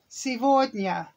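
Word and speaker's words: сегодня: say today what's today silvogna okay here we go s e g remember g v that's sometimes pronounced v c d and y sevornia that's today that's today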